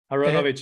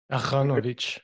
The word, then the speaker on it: Aronovich: Well, I mean, if you were to say it like in proper Hebrew, then the R becomes more of a guttural sound. Aronovich. Yeah, like a French. Yeah, Aronovich.